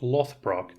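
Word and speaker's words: Loðbrók: Ragnar Harry britches Ragnar lodbrook Lord Brooke literally means hairy Bridges or trousers and is sometimes pronounced Lothbrok emerges from Norse Legend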